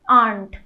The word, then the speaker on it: aren't: आर नॉट को aren't, आर नॉट को कई बच्चे aren't को aren't बोलते हैं। प्लीज याद रखिए इसमें र को प्रोनाउंस ही नहीं करना है, आप या तो aren't बोल दीजिए, aren't जैसे आंटी होती